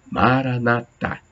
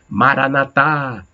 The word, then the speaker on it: Maranata: Tem outras pessoas que dão acento na última sílaba, Maranatá. Outros dão na antepenúltima, na penúltima, aliás, Maranata. Então, não sei qual é a pronúncia correta, acho que as duas estão corretas, né?